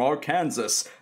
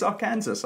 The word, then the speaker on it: Arkansas: college I didn't know that Arkansas was not pronounced Aransas so I was at College I was like hey I'm from our Kansas and this guy from Arkansas was there he